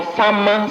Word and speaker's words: Samma: Samma is spelled as S-A-M-M-A, not S-A-M-A, Samma.